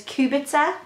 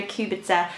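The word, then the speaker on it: Kubica: Several years ago, I read a book by Mary, and I think the pronunciation is Kubitzer. I researched the name on Google, so I think it's Mary Kubitzer.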